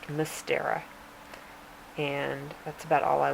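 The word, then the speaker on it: Мстёра: not english letters obviously but that's how it's pronounced mystera and that's about all i learned but it's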